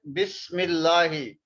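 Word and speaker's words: بسم الله: You can see here Bismillahi. So this meme we will pronounce with this lam. And this Hamza we don't pronounce.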